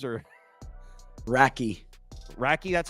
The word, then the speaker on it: Radtke: Racky, that's how you say it?